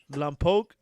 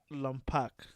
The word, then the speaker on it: Lletget: know but he says by the way it's pronounced lamppoke not lampak ah i think we